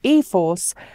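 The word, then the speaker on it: e-4ORCE: the system nissan says the e 4r SI system pronounced ethos offers quote powerful performance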